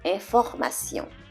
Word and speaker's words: information: Sometimes the T is pronounced like an S when the T is followed by another vowel. Par exemple, for example, in the word information, information, and diplomatie, diplomatie. So each time they're followed by another vowel, so the T is pronounced as a SY in English. Information, diplomatie. So S sound is what you're hearing.